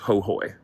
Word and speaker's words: Ho: And in Hooy, it's spelled Ho, but it's pronounced Hooy.